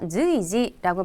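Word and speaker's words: 随時: 우리말에 수라고 읽힌 한자는 음독이 되게 여러 가지인데 주의하셔야 될 거는 땡땡 붙여서 즈이라고 읽습니다. 해서 즈이지라고 발음하면 수시로.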